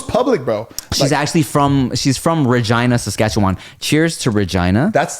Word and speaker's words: Regina: I thought it was Regina, Saskatchewan, and I had a show in Calgary. They're like, which is- no. It rhymes with vagina.